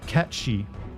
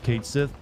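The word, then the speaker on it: Cait Sith: this game come out because it's supposedly it's pronounced catchi but I think that's stupid and I've always pronounce it as Kate Sith I don't know how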